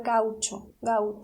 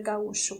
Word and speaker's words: gaúcho: muito na Argentina também, vamos pronunciar gaúcho, não vamos dizer gaúcho como vocês.